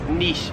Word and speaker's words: niche: I myself have always said niche, but in Australia, no one says niche. It is niche here in Australia.